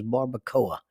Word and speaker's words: barbacoa: the word for this in their language was barbacoa.